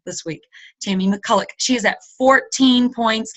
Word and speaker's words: McCulloch: 2 points, Rebecca Thompson 6 points, and Tammy McCulloch is how you pronounce her name. She taught me how to on a call this week. Tammy McCulloch.